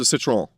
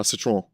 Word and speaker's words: Citroën: And it definitely sounds like a guttural Quebecois accent, but um uh it's I pronounce it with the proper more Parisian uh Citroen uh pronunciation of it.